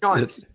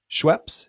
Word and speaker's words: Schoeps: And then you have the Schoeps condenser microphone. Can you see the Schoeps? Yep, we can see them all. And are you saying Shore or what? What? Schoeps. Schweppes?